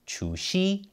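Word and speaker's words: 除夕: In Chinese, that's pronounced Chu Xi, which means Lunar New Year Eve.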